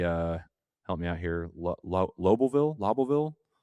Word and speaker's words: Lobelville: Loville. Lobbleville. That's going to be Lobelville. Hold on, I can say Loville.